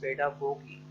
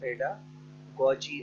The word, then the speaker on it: pedagogy: Topic है what is पेडागोगी। जो है व्हाट इज़ पेडागोजी और गॉगी, इसको आप जैसे भी प्रोनाउंस कर सकते हैं, अमेरिकन और ब्रिटिश एक्सेंट का फ़र्क है।